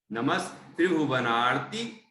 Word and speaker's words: नमस्त्रिभुवनार्ति: ये तुभ्यम नमस्त्रिभुवनार्ति, ये जो आधा सा है ना, उसका उच्चारण ठीक से करें। नमस्त्रिभुवनार्ति हराय नाथ तुभ्यम नमः क्षितितलामल भूषणाय तुभ्यं नमस्त्रिजगतः नमस्त्रिजगतः परमेश्वराय तुभ्यं नमो जिन भवोदधि शोषणाय।